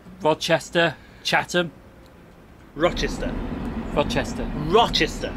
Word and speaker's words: Rochester: so he's here and he's pronouncing Rod Chester it's not it's Rochester there's no D in it Rochester is he still